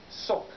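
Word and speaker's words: сок: Now, the word I think they're going for is pronounced in Russian, sok, but it's spelled like this.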